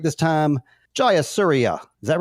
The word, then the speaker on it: Jayasuriya: I'm gonna say his name right this time jauria is that right perfect good I'm perfect um